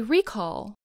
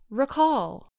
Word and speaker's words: recall: The first syllable of the word is stressed. So we say recall, not recall.